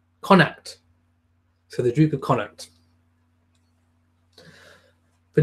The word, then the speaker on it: Connaught: work and Jamie says Connaught is pronounced pronounced connect so the Druker connect